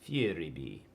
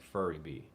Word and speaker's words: Furibee: it was cheap furibee it's fieri you're english man you have an accent you say it different than i do i'm a cowboy i say it like furry bee it's a furry bee it's a dumb name